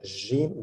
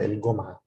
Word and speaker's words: الجمعة: In Egypt, the jim, this letter is pronounced, this letter that I will highlight is pronounced jim, ja, ja, ja in standard Arabic, but in Egypt it's pronounced ga, so el-gum'a. Here we pronounce it el-gum'a.